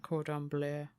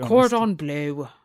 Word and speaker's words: cordon bleu: i can't pronounce that cordon bleu i'm just glad you pronounced it rather than me trying to be cordoned blue yeah i don't know